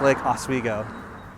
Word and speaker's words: Oswego: So a viewer was very kind to point out my inability to pronounce it correctly, so it's Lake Oswego.